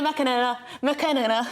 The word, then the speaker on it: McAnena: McAnena. Sorry, I butchered your name. You're right the first time.